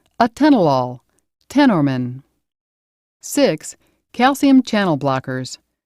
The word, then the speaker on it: atenolol: names in this classification end with the letters lol pronounced law such as atenolol tenorman six calcium channel